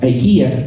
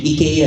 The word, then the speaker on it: IKEA: marketing campaign so uh Ikea actually Ika is the right way to pronounce it if you want to be proper Ika called us because